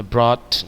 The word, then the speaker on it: brought: We have not been brought, bacanya brought, jangan ada gehnya ya.